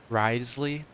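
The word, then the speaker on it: Wriothesley: you say his name you just completely forget about the O rithly rius rith riy Rio the slle Risley cool yeah we heard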